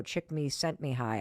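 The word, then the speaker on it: Csikszentmihalyi: at University of Chicago, Chick Me Sent Me High, I think is how you say his name.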